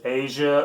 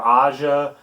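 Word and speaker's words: Aja: that's a great starter this is Asia or Asha by Steely Dan depends on how you'll hear you'll hear it you'll learn pronounce many different ways but several songs on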